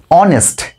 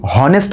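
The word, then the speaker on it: honest: কেন আমরা এন বসাবো দেখো আমরা উচ্চারণটা কি করছি অনেস্ট এইচ এর উচ্চারণ তো হয় এর মতো হয় কিন্তু আমরা কেউ কি বলি হনেস্ট ম্যান বা আমরা কেউ কি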